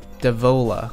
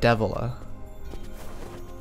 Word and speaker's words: Devola: popola but not papola meanwhile it's meanwhile it's uh devola not devila okay whatever it's fine